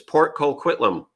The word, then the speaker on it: Port Coquitlam: look at it so i say it right port coquitlam or if you say it like a local i guess it's port coquitlam correct now you say it to see if i sound like a local canadian port coquitlam